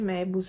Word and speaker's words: Moebus: link del progetto mebus Io penso che si pronunci mebus è scritto moebus e mi piacerebbe effettivamente